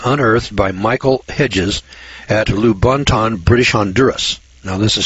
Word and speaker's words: Lubaantun: 11-pound skull was unearthed by Michael Hedges at lubaantun British Honduras now this is spelled Lu ba a and tu n lubaantun